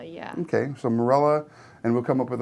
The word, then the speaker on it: Mirela: Sara put down first Mir ela and I are pronounced as Marilla yeah okay so Marella and we'll come up